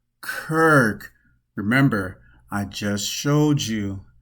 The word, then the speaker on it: Circe: Circe, ancient Greek, keeping it pronounced Kirk.